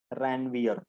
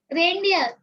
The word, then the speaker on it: Ranvier: Some other students pronounce it Ranveer. Okay, it is node of Ranvier.